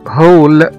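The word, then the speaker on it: hall: كمان زي كلمة هول، H-A-L-L، اللي هو يعني قاعة، نطقنا هنا حرف الـ A كأنه حرف O، هول.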